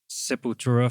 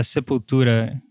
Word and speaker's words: Sepultura: Sepultura is actually how we call that. Uh, People say like Sepultura.